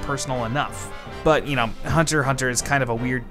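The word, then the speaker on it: Hunter x Hunter: to do this is Hunter Hunter by Yoshi Tashi it has an X in it but apparently you're not supposed to pronounce the X I think that's dumb but that's apparently how it works so whatever Hunter Hunter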